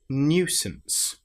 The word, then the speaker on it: nuisance: So surely and then the last word is nuisance. This is the new rather than just new. It's new. We've got the y sound in there as well.